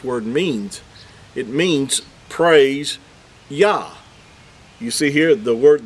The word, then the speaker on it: Yah: The yod and the hey would give you the pronunciation of Yah.